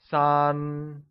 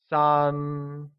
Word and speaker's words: sān: 3 becomes San and is pronounced with a high level tone, like San.